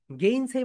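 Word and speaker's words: gainsay: এখানে এই প্রোনাউন্সিয়েশন করতে হবে, সবাই বলো মাই ডিয়ার সোলজার্স, এই, এই, গেইন, সেই, গেইন, সেই, সবাই বলো মাই ডিয়ার সোলজার্স, গেইন, সেই, মুখ খুলে বলতে হবে।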